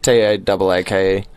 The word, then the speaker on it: Taake: I hope I'm pronouncing that right. Taco. It's just Taake.